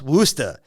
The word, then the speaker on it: Worcester: It's pronounced Worcester, despite it being spelled like this.